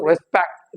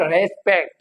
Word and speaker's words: respect: किस पे रहेगा? second syllable पे। respect, इट इज रेस्पेक्ट, इट इज नॉट रेस्पेक्ट। अगर हम इसको रेस्पेक्ट प्रोनाउंस करते हैं मींस कि हम रे पे जो है वो स्ट्रेस देते हैं, रेस्पेक्ट।